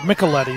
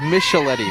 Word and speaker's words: Micheletti: afternoon for Los Altos personally I would pronounce it Micheletti but we're instructed of Michelle Eddie my friend family needs to rethink that wow shortstop Christian Herrera